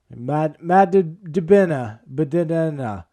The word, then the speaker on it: DiBenedetto: You guys have probably seen that, the tweet of all, like the mashup of all the ways that the announcers mispronounce Matt DiBenedetto. Matt DiBenedetto.